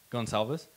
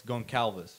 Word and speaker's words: Gonçalves: Because like my next last name is actually spelled Gonçalves, or pronounced, sorry, Gonçalves. But most people are just gonna read it as Goncalves, right?